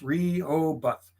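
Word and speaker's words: Rehoboth: palmy you gotta like Coastal Delaware reho both Rio both pronounce Rio buff real buff okay that's it that's it because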